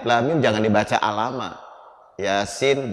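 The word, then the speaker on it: يس: Yasin jangan yasa, yasin.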